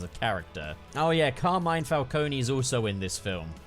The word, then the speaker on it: Falcone: like the penguin and carmine falcone yep it's pronounced falcone in this movie so i will pronounce it